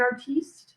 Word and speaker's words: artiste: I'm not an artist. I'm an artiste. Artiste. And I would appreciate if you pronounced it that way.